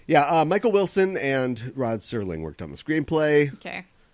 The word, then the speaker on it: Serling: the novel by Brad Sterling or is he just no he's the first of all tried Serling oh I said his name wrong get my picture picture